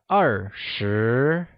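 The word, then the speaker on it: 二十: let's review them once 20 which is 2 and 10 translates to are sure thirty that is three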